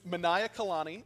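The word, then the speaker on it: Manaiakalani: and I'm gonna pass this to you to pronounce it you're so scared Harrison just a little just a big old word it's Manaya Kalani is the name of his hook uh it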